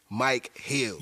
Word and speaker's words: Micheals: I mean Michaels. It's Mike Hills.